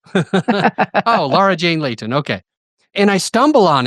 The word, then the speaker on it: Laura Jane Layton: And today I'm with Laura Jani. How do you say your name? Oh, Laura Jane Layton.